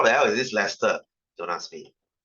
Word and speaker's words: Leicester: can you watch football okay guys this is pronounced as Leicester as in Leicester oh your dad does okay